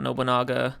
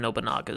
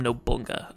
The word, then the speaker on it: Nobunaga: liked to have seen Nobunaga then ability also I've got to correct myself because in the previous Hunter Hunter review I absolutely butchered nobunaga's name here I called him no Bunga and I'm an idiot